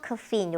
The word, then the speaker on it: caffeine: basil caffeine 이게 많이 나와요.